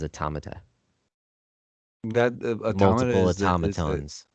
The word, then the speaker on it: automata: The proper way to say it is automata.